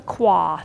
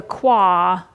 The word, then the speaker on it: qua: My dear shifters, we are talking about the qua today. It's uh sometimes spelled KWA, sometimes it's spelled QUA.